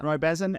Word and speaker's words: Bhasin: Bhasin, Did I pronounce that right? Yeah. Roy Bhasin.